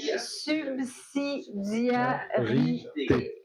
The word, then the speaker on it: subsidiarité: S-U-B-S-I-D-I-A-R-I-T-E accent aigu, comme ça se prononce. C'est ça. Subsidiarité.